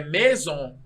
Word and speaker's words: maison: Se você vai ler casa, é maison. Maison se escreve M-A-I-S-O-N. Maison. Se você vai escrever em português maison, que é casa, você vai botar M, E, circunflexo, Z, O-N. Maison.